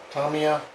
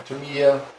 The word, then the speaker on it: Tamiya: rear wheels, and if anybody knows about the Tamiya or Tamiya, how you like to pronounce it, truck, you know that the rear